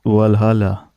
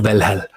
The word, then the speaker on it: Valhalla: also say but but i think the right pronunciation in english would be well valhalla this is a danish way is the right way let's see that's my